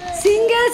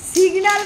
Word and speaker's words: সিগনাল: যেখানে আছে ওখানে থাক সিঙ্গেল সিঙ্গেল সিঙ্গেল না সিগনাল বলো সিগনাল সিঙ্গেল না সিঙ্গেল